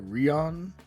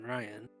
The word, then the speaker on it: Rion: big of words for Rion?" He's standing over Ajax's shoulder. Do you mean Ryan? His name, correctly pronounced, would be Rion, based on how he spells it, but Ryan will do.